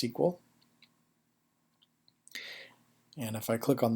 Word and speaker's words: SQL: It's pronounced SQL.